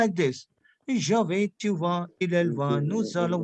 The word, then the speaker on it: vas: tu vas. देखो यहाँ पे what we are doing over here, we are not pronounce S because S would be silent.